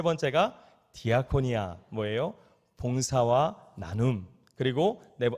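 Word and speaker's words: διακονία: 섬김과 봉사를 헬라어로는 뭐라고 표현하고 있느냐 뭐라고 표현할까요 디아코니아 디아 코노 이렇게 코네오 이렇게 발음하고 있어요이 디아코니아 봉사와 섬김을 헬라어로 말하고 있죠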